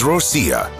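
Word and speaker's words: Россия: 24 7 job finally there is Rosia which yes is actually how Russians pronounce their Homeland it's sweet to think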